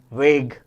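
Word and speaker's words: Waage: Duo scientist, to scientist, Gulberg and वेग, वागे, काय पण म्हणा पण स्पेलिंग बरोबर लिहा.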